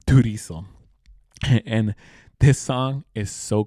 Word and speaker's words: Turizo: And the song is called Inglés en Miami, featuring Manuel Tirazo. No, sorry, Turizo.